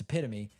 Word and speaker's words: epitome: play for you guys this is the epitome or the epitome as I once heard read off of a teleprompter it was once pronounced epitome it's epitome I I present this